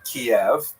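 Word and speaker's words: Kyiv: That's the Ukrainian pronunciation by the way that's favored today because of course Ukrainian is the dominant language in the country but it used to be called in English Kiev which is closer to the Russian pronunciation because Russia dominated much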